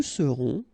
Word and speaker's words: serons: Nous serons, so final S not pronounced, then on, on, seront.